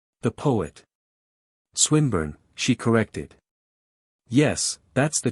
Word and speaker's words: Swinburne: Swinburne, he repeated, with the same mispronunciation. The poet. Swinburne, she corrected.